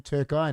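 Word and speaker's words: Türkiye: said he goes turkey they pronounce their name turkai now only way to spell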